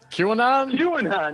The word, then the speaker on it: QAnon: QAnon.